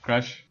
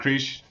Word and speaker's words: Crush: yeah, my name's Crush, friend of Dom's. It's not Krish, for all you people that butchered my name in the last video.